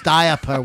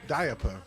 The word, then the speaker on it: diaper: need a diaper diaper i like when people pronounce diaper where they say like the i and the a right diaper diaper aubestus i called